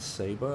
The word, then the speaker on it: Saba: a small little Island Saba I think is pronounced sa ba and um over in